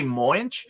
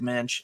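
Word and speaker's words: Moench: I think I used to say Moinch, but in the back of single issues, they used to tell you how to pronounce a lot of people's names. One of them being like John Buscema, Doug Mensch, and there was somebody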